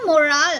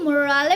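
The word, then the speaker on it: morale: है कैन you imagine what do you mean by last में एल ई है तो वो मोराल हो जाएगा it pronounced as मोराल एम ओ आर ए एल E please correct your pronunciation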